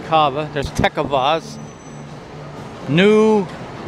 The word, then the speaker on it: Cava: then we have cava i don't know how they say it i say carver so it's kava there's tech of oz